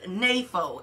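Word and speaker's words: νήφω: the New Testament, and one of them is napho, and it's spelled N-E-P-H-O.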